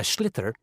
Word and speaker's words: sliotar: This is what it looks like, and basically you have to get this ball, called a sliotar, that's S-L-I-O-T-A-R, so it's not spelt the way it's pronounced.